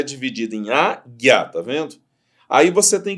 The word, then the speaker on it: águia: Eu não pronuncio U.